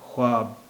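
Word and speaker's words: ख़्वाब: ख्वाब को अब ख्वाब भी बोला जाने लगा है, तो ख्वाब भी इसका एक उच्चारण है। ख़ासकर हिंदी में तो ख्वाब ही कहते हैं, लेकिन उर्दू में इसे कुछ लोग ख्वाब बोलते हैं, कुछ लोग ख्वाब भी बोलते हैं। तो यहाँ पर वाव साइलेंट है, ख्वाब, ख्वाब, ख्वाब या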